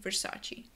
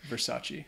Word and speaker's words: Versace: understand you you'd say Versace there you go the e at the end Versace mhm do you have